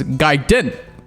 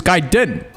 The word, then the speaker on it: Gaiden: it is pronounced is Gaiden. GRADIUS Gaiden. And I think it is pronounced this way because you know this game called Ninja Gaiden.